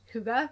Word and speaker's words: hygge: It is pronounced hygge, and it's really just about making the simple